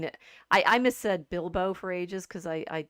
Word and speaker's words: Bilbo: I missaid Bilbo for ages because I said it out loud to myself as Biblo or something. I don't know what I was Oh, thinking. And so getting the Hobbit's name right, it's Bilbo.